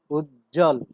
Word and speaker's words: উজ্জ্বল: যেমন উজ্জ্বল, বর্গীয় জয় জয় যুক্ত আছে, এর সাথে আরো যুক্ত হয়েছে ব, এক্ষেত্রে আমরা ব ধ্বনির কোনো উচ্চারণ দেখতে পাচ্ছি না, শব্দটির উচ্চারণ হচ্ছে উজ্জ্বল।